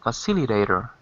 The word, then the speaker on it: facilitator: facilitator facilitator facilitator good not facilitator because that would be facil facilitator I'm I was hearing you on the fourth syllable but it's got to be on the facilitator second syllable second syllable facilitator let's say a quick